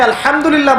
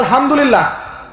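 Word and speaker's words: الحمد لله: হায়ে Houthi, এটাকে বলে বড় হা। উচ্চারণ কোথা থেকে করতে হয়? মাঝখান থেকে। মাশাআল্লাহ। এখানে যদি আপনি আলহামদুলিল্লাহ বলেন, অর্থ হচ্ছে সমস্ত প্রশংসা কার জন্য?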